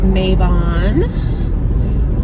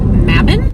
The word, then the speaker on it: Mabon: almost fall almost maven i know a lot of people call it mabin phonetically at least as far as english which maybe it's not an english word i don't know but phonetically that would be mabon because it would need two b's for it to be a short vowel a short a okay the more you